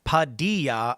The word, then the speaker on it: Padilla: Bueno Malo says, "Padilla's name is pronounced Padilla.